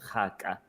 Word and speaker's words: Kgaka: It's, by the way, the Setswana traditional dress is called haka, which roughly translates to guinea fowl. It's spelled Kgaka. It's usually blues and whites,